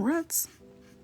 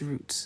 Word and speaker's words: roots: you don't see them ruts I only say that when I'm amongst friends don't go to school talking about rits it's Roots it's Roots say it right all right so even